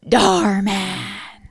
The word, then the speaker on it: Dhar Mann: Say it right. How do you say it? Dhar Mann. All right, there you go, guys. That's how you say it.